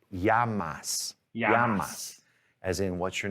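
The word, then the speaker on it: llamas: l in spanish no double l sounds like yeah in a sentence so this word right here yeah l-l-a-m-a-s is pronounced yamas as in what's your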